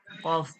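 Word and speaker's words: ك: ওই জন্য একটাই আছে কফের সঙ্গেও কফ মাখরাজ একা আছে ওই জন্য একা একা দিয়েছে এটা দেখুন কাফ কোথা থেকে উচ্চারণ হয় জিহব্বার গড়া থেকে একটু আগে বাড়িয়া তার বরাবর উপরের তালুর সঙ্গে লাগিয়া মাঝখানে পেঁচানো অর্থাৎ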